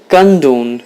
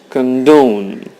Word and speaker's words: condone: find her work boring condone you have the stress on the second syllable it means the second syllable would sound louder than the other one it's not condone its condone it's a verb it